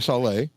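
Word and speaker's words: Šalé: Number 11, and I'm probably going to pronounce his last name now, is Edward Saleh, I guess, because he's Czech. I know it's not Sale, so probably Saleh.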